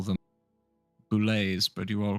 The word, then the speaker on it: boulette: Yeah, you pronounce the T's. Anyways, you're uncultured. It's fine. But if we're going to introduce him to our music, he needs to understand that it's called a boulet, and the T is silent.